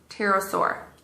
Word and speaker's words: pterosaur: talk to you about the pterosaur silent p what else are you